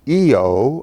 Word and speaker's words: Io: red spot and then the moon IO which she pronounces EO I'll ask her about